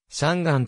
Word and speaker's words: 香港: よるとされる標準中国語では香港をちゃんガンと発音する中国語での